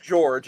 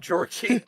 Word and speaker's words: George: oh I will say his name is just George it's not Georgie we keep saying